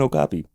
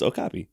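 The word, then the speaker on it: okapi: zoo I'm pretty you you mispronounced that one no it's okopy ok AI so you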